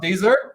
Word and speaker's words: Deezer: I think it's pronounced Deezer.